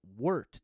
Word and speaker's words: wort: a wart pronounced oh wort w-u-r-t it's okay that's how you pronounce it it's spelled w-o-r-t but you pronounce it w-u-r-t word worked is non-alcoholic